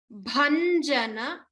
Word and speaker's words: Bhanjana: Bhanjana. Karam. Bha is a Mahaprana. Put more effort to pronounce the bha.